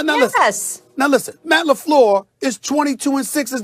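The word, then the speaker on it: LaFleur: celebrated guy without a job did did I pronounce his name correctly Molly I just want to make sure I said Matt laflor I didn't say I said lafl okay Matt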